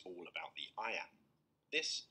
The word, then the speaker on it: iamb: Iambic pentameter may sound technical, but there's an easy way to remember what it means. The word iamb is pronounced just like the phrase I am.